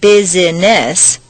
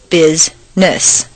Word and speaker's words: business: actually spoken for example business is not business but rather Bizness just when you get